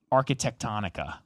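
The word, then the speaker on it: Arquitectonica: There's a proposal for a 15-story luxury condo tower designed by, I can never pronounce this company's name. Architectonica.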